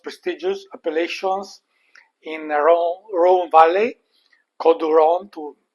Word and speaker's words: Côtes du Rhône: If you missed it about a year ago, link below, Châteauneuf-du-Pape, so one of the most prestigious appellations in Rhône Valley, Côtes du Rhône to say it properly.